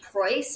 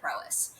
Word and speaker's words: Prois: But if you ever listen to the CEO Kirsty talk, she always pronounces it Prois. So Good. I said it right. that's just what we. Yeah. It actually has to do with the Greek. Meaning of it is the reason it's spelled the way that it is, but it doesn't have anything to do with the way that we pronounce it. Everybody at Prois just calls it Prois.